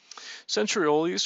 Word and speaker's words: centrioles: Centrioles, or centrioles as they're pronounced in different ways, are a set of